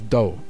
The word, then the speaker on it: 道: speakers probably know the japanese reading of dao which is do which because you we know judo and kendo oh yeah aikido yeah that's the dao but then the japanese didn't pronounce right or they changed the